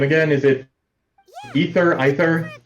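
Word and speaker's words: Aether: How do you pronounce this Traveler's name again? Is it Ether? It's Ether? Ether.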